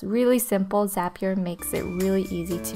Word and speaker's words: Zapier: with zapier or zapier zapier makes you happier I think they pronounce is happier she's going to run